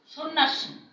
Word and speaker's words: সন্ন্যাসী: সন্ন্যাসী, এই নয় নয়ের উচ্চারণ হচ্ছে, জফলার উচ্চারণ হচ্ছে না।